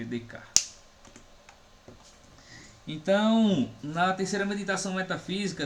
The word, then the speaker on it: Descartes: Descartes se escreve Descartes. Escreve Descartes. É um francês, certo? A gente lê Descartes.